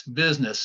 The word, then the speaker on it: business: Yes, business. And of course, you see that U in business and you think there's no way that is the I sound, but yes, it is.